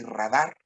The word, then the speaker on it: radar: En cambio, sonar y radar se quedaron como agudas.